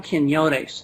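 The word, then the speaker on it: Quinones: book his name is Sam kenon that's spelled Ki n o n s Sam kenon the book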